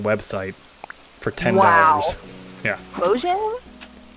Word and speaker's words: Mojang: was bought from a Mahjong website for $10. Wow. Yeah. Mojang? Mahjong. What? What's up? Mahjong. Yeah, but that's not how they say it. It's like the game, Mahjong.